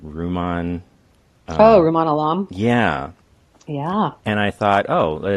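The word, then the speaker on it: Rumaan Alam: out by, and I don't know how to pronounce his name, Ruman. Ruman Alam?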